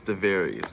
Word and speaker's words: Devarius: So I have with me a very, very special guest, Devarius. Did I pronounce it right? Yes, you're correct. It's Devarius.